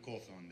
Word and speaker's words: Cawthorne: de Reuter, su apellido es un poco complicado de pronunciar, pero ahí está. Gracias, no tanto, es Cawthorne de la agencia Reuters.